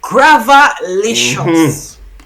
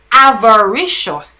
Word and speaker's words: avaricious: found out the word gravalicious. That's not a whole heap of syllable, you know. A whole heap of syllables. The word gravalicious actually means, or the proper word should be avaricious.